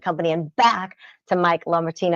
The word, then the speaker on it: LaMartina: And back to Mike LaMartina. Am I saying it correctly? Yeah, It's a cool name, but it's kind of a little tongue twister there.